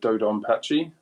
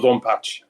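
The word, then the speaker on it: DoDonPachi: final satin pick is dodon Pache um which is pronounced beautifully in British English there or or Doon patch how the Japanese would say it enthusiastically um so I came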